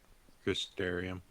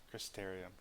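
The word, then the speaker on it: Crystarium: Crysterium. Crysterium. It's like hysteria but different. or aquarium.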